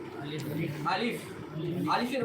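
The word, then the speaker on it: ألف: পড়েন আমার সঙ্গে বলেন আলিফ আলিফ আলিফ আলিফ আলিফের উচ্চারণটা আপনাকে ভিতর থেকে বাটা হাওয়াটাকে বাইরের দিকে প্রবেশ করতে বাইরের দিকে বের করতে হবে বলেন আলিফ আলিফ আলিফ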